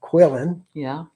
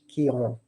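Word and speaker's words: Quillan: And if you're from Texas, you would call it Quillon, like a redneck would say. But we are in France, so we say it like the French, Quillon. Very poetic, kind of sexy, Quillon.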